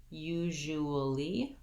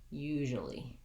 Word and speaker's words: usually: I can say that as usually, but we usually will not say all of those syllables. We'll say it more like usually. So my jewel becomes more of a jol without that tense oo. It goes right into the schwa, jol, usually.